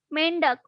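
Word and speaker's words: मेंढक: Mendak. Okay, this is slightly difficult to you, but we will pronounce like mendak. Mendak.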